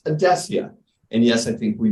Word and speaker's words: Adecia: it reminds me that that is how we pronounce odessia and yes i think we made that word